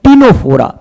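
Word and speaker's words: Ctenophora: सिलेंटे निडरिया और सिलेंट्रेटा के बाद जो थर्ड फाइलम आता है that is टीनोफोरा। That is what? टीनोफोरा। इसके अंदर भी सी साइलेंट है बेटा।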